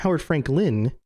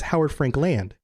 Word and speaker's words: Howard Frankland: what and she's like it's not for Howard Frank Lin like a name its Howard Frankland and we both looked